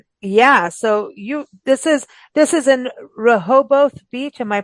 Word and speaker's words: Rehoboth Beach: So yeah, so this is in Rehoboth Beach. Am I pronouncing this right? Correct. Rehoboth Beach, Delaware.